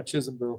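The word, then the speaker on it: Chismville: But how do you pronounce that? Is that Chisholmville? Yeah, Chisholmville. Chisholmville.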